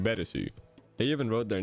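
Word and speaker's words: ベレス: and one more thing mill violet and fimo violet have slightly different names in japanese milbileth being better and femobileth being betesu they even wrote their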